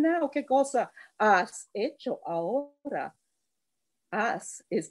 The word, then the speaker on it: ahora: Ahora has an H in it. In even though we don't say it like in English, it's not ahora.